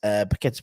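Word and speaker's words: Paquetá: Paqueta's pronunciation determined by rhythms. What rhythms is with car? Rhymes with car, exactly.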